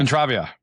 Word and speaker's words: Entravia: business and um is it Entravia or Intravia? How do you say it? Entravia.